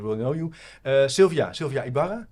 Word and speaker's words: Ybarra: of the listeners will know you Sylvia Sylvia Ibarra like pronounced pronounce that correctly yeah that's correct you